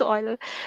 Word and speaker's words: Euler: some escapees okay so Euler identity is pronounced oil okay I honestly I